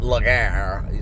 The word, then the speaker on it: Legree: And Legree is spelt more like Lagar.